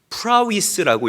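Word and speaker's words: πραΰς: 여기서 말하는이 온유를 우리가 조금 더 분석을 해 보면 아,이 온유는 헬라어로 신약 성경에 헬라어로 프라위스라고 읽고 발음합니다. 프라스.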